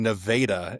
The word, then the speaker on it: Nevada: If you guys go to Vegas, you will get corrected by Nevada. Right. Well, it's so funny because I grew up in central Iowa. There's a little town in central Iowa that's called Nevada, and it's spelled the same way. So I grew up saying Nevada as a kid, and then like, oh, that state's called Nevada. No, it's not. It's just a different name.